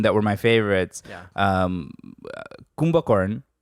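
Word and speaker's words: Kumbhakarna: Kumbhakarn, which is Kumbhakarn, yes, yeah. That's a Bengali pronunciation.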